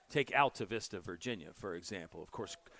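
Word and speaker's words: Altavista: that one but uh it's alav Vista High School where he's from but if you look at it it looks like altav Vista or even altta Vista if you want to add like a little Hispanic Latin flare to it which I love but everybody there says Alta Vista buav Vista is another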